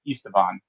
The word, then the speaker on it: Esteban: By the way, I got to pronounce his name right, which is Esteban. Esteban Pally is our lead artist on Starfield.